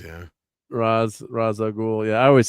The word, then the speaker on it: Ra's al Ghul: Putin's gets his Ra's al Ghul. Yeah. I think that's how you're supposed to pronounce it, is Raz. Yeah. Ra's al Ghul.